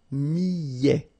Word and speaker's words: millet: Le millet, here, I, and then double L, so I, I, millet, E-T at the end, open, millet.